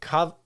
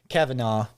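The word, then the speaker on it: Cavanagh: uh it was published and developed by Terry COV I can't believe I just mispronounced it Kavanaugh he's an Irish boy yeah and uh uh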